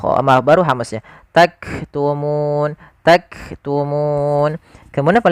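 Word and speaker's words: تكتمون: Lafal nun di sini ada bacaan mad arid di sukun. Yaitu mad yang terjadi disebabkan karena adanya sukun arid yang ada di akhir bacaan kita. Awalnya bacanya taktumu. Nah, karena kita sukun nunnya menjadi sukun arid. Sukul karena waqaf maka muna menjadi taktumun. Nah, di sini munya panjang dulu baru matikan. Nah, pada lafal bacaan nun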